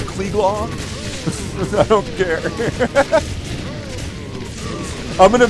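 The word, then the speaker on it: Cleglaw: That's not pronounced klelos like this. Cle is klelaw.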